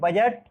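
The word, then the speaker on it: budget: इसी तरह से बजट और ब्रिज दोनों में ही डी साइलेंट है, दोनों में ही डी साइलेंट लेटर प्रयोग किया गया है।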